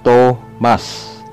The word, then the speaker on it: Thomas: TH. It's always simple T. Halimbawa, Thomas. Ito ay Thomas.